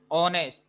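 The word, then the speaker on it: honest: दूसरा देखिए, ऑनेस्ट। यहाँ पर जो एच है वो क्या है, साइलेंट है, जिसका स्वर्गवास हो गया है।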